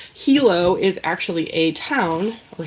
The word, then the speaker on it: Hilo: It is It's spelled I always said it was Hyo. It's not. It's Hilo Hattie.